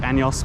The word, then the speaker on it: años: Also, my Spanish teacher said say años, not años, because años is something else.